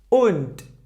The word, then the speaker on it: und: If the letter D was at the end of the word, it pronounced like weak T. Okay? For example, here we have und.